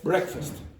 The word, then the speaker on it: breakfast: This is the word breakfast. This is the strong syllable.